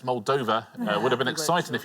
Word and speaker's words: Moldova: Not Moldovia, it's Muldova.